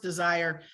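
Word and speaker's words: DSIRE: the the desire not it's not spelled desire but it's it's pronounced desire uh database uh for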